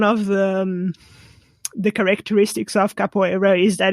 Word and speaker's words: capoeira: you do um and i know i've capo capoeira i didn't say that was perfect yeah you